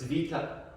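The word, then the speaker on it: βήτα: Or as my Greek friend says, it's vita. That's how they say it in Greece.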